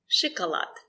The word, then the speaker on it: Шоколад: Шоколад. Шоколад. The stress is on lad. Шоколад. Sh. The letter O is not stressed. We pronounce it as I.